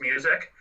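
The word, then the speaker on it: Muzak: It's pronounced music. Who cares? Because we're going to pronounce it music, because I think of Sound of Music, and I think of the musical Sound of Music, and no way.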